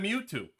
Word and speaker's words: Mewtwo: They didn't do one syllable. They said Mewtwo.